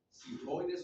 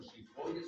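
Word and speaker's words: xifoides: Y la parte más caudal se conoce como apófisis, sifoides o shifoides o como quieran pronunciar la X, ¿verdad?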